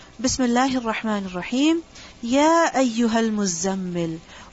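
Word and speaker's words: مزمل: And this word is actually mutazammil, mutafa'il, mutazammil. And the ta has been assimilated with the zai. So the word mutazammil changes into muzzammil. This is why it's necessary to pronounce the shadda.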